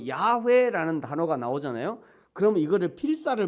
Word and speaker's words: 야훼: 이게 히브리어로는 야훼 이렇게 읽어요. 순복음에서 야훼라고 읽죠. 순복음교회에서는 야훼. 원래 그게 잘하는 거예요. 그렇게 해야 돼요. 근데 꼭 우리는 순복음교회에서 하면 괜히 우리 장로교는 안 해야 되고 막 이상한 그런 게들이 있어요. 그 해야 돼요. 저것도 원래는 야훼 이렇게, 우리는 여호와 하나님 이러잖아요. 야훼 하나님 이렇게 읽는 게 이게 맞는 말이에요.